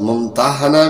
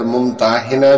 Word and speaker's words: ممتحنہ: الممتحنہ رکھا گیا ہے۔ اس کا تلفظ ممتحنہ بھی کیا جاتا ہے اور ممتحنہ بھی۔ پہلے تلفظ کے لحاظ سے معنی ہے وہ عورت جس کا امتحان لیا جائے، اور دوسرے تلفظ کے لحاظ سے معنی ہے امتحان لینے والی صورت۔ زمانہ نزول، اس میں